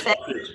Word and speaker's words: Hafiz: You know, you mentioned Hafiz. Am I saying it right? Yes, Hafiz.